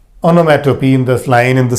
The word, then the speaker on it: onomatopoeia: Number 5, we have onomatopoeia. The spelling is different, but we pronounce it like onomatopoeia.